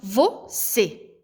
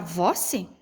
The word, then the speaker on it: você: Quando eu falo você, pode ver que o C aqui, essa sílaba aqui, a gente pronuncia ela mais forte, tanto pelo acento como na hora da pronúncia. Porque se eu fosse pegar aqui o vou, professor, o vou é mais, a sílaba é mais forte. Daí ia ficar voce? Não, né? Essa palavra não iria combinar.